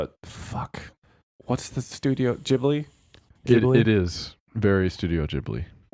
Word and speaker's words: Ghibli: Technically, it'd be Hibli. Ghibli. But anyway, are you gonna play the Yeah, I'm gonna. pronunciation? Ghibli. It is Ghibli.